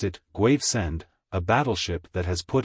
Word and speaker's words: Gravesend: with elaborated caution there is at Gravesend he pronounced it graend a battleship that has put in for stores